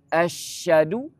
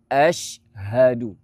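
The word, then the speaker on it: أشهد: Biar sempurna bunyi huruf syin dan ha tu berbeza. Jangan gabung. Asyhadu. Salah. Hilang huruf ha tu. Dia kena ashadu. Cuba sebut ashadu.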